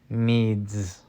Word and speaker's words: needs: Needs. Sounds like a Z.